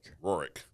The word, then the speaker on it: Rourke: How do you say his name? Rourke. Yeah, no, R's Rourke. Rourke. Just think Rourke.